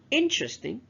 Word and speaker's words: interesting: second syllable is underlined interesting the first syllable is underlined begin the second syllable